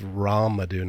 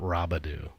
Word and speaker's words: Ramudu: His name's Ramudu, not Rabadu.